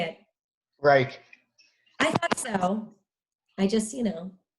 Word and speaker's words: Reich: Reich. I thought so. I just, tread lightly. Yeah, it's Reich.